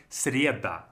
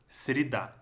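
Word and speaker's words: среда: should be sounding like cereta right but because it's not stressed again here is going to sound like sirida similar is going to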